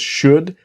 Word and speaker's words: should: What do you think I should do? Now remember with should the L is silent, not should, but should.